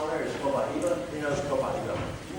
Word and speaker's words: Copaiba: Some people pronounce it Copaiba, but in Brazil they pronounce it Copaiba.